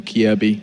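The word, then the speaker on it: Kjaerbye: Like, you look at the names, you're like, wow, MSL, AZ, and HB, of course, or Kierby, as I've been told.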